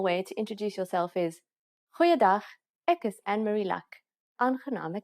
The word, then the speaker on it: goeiedag: Goeiedag, ek is Annemarie Luck. Aangename kennis. Let's try that again. G. Try pronouncing it from the back of your throat.